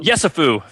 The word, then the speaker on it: Yesufu: Um so, in the last uh week or so, Joseph Yesufu, is that how he pronounces it? Yesufu. Yesufu, thank you.